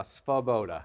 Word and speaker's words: Svoboda: It's Czechoslovakian. It's Svoboda.